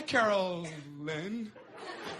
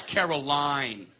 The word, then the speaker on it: Caroline: Hi, Carolyn. It's Caroline.